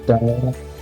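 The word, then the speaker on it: דבר: Eh ini bacanya far bnya tanpa dages sehingga berbunyi seperti V far ya Sehingga ini dibacanya Daar begitu ya dibacanya Daar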